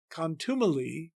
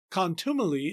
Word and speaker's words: contumely: the word the and gave contumely four syllables with the stress on the second syllable as in modern speech but Shakespeare means us to elide the word the with oppressors and to make contumely in fact three syllables